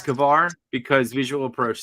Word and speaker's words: Kavar: Wait, so it's Kavar? It's not Carver? I mean, don't go by me. I'm not one to pronounce things. I think he's right. I think it's Kavar.